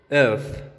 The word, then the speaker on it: œuf: Ok, entonces aquí estamos en la pronunciación de E. Y tenemos corazón, que es cœur. Huevo, œuf.